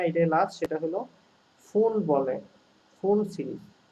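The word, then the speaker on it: Pfund: এটাই লাস্ট, সেটা হলো ফুন বলে, ফুন সিরিজ। ফুন বানামটা এফইউএনডি না, পি লিখতে হয় সামনে একটা, পি ফুল আসলে, তো উচ্চারণটা ফুল হবে কিন্তু পি এর সামনে একটা দিতে হবে আর কি, উচ্চতাকে।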